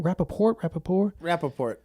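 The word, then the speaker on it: Rapaport: Rappaport.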